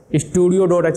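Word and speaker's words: stdio.h: अब यहां पर मैं एक वर्ड लिखूंगा एस टी डी आई ओ डॉट एच स्टूडियो डॉट एच बोलते हैं हम इसको ठीक है स्टूडियो की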